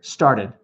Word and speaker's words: started: That's American English. Add that D in there. Star dead. Faster. Started. Started.